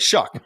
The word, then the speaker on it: Shough: to pronounce it I it was like show Tyler show right you're like shuck okay got it and